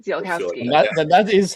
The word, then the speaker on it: Ziolkowski: Zilowski is how I pronounce it. Zilkowski. Zilowski.